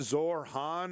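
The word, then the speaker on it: Zohran: I think I think Zor Han I think we're supposed to go like kind of push the H a little harder.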